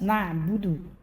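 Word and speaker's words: نعبد: Huruf ain mesti dibaca dengan ain, jelas na'budu. Jangan sampai salah huruf na'budu bertukar dengan hamzah.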